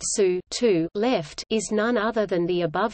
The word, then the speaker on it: SU(2)L: Here, SU 2 L pronounced SU 2 left is none other than